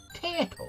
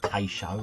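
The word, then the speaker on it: Tayto: Tato. It was Tato. Tato. I used to call it Tay-show and all sorts. But yeah, I just pronounce it like the crisp now.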